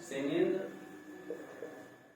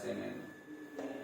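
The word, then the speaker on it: क्षेमेन्द्र: सेमेंद्र, इसको सेमेंद्र ही होता है क्योंकि ऐसे लिखा जाता है। अब इसका उच्चारण तो हम का कर नहीं सकते बिना मात्रा के, सा से पढ़ा जाता है सेमेंद्र, ठीक है।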